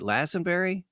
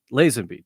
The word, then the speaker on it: Lazenby: i have another but uh ted is it lassenberry is that it is how do you say you mean george lazande lazenby george not ted george ladies and be now